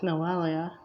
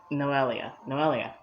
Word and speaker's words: Noelia: It's not just Noelia. It's Noelia. I always forget that it's an Ia at the end.